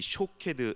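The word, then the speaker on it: שֹׁקֵד: 비슷하다라고 설명을 하고 있죠 살구나무에 히브리어 발음은 샤캐드입니다 지켜보다라는 단어인이 쇼캐드 지켜보다라는 단어는 쇼캐드라는 단어인데요 두 단어 모두이 삭화드라는이 단어 경계하다 망보다라는 동사에서 유리한 단어로 두 발음이 매우 유사합니다 즉 살구나무 가지 환상을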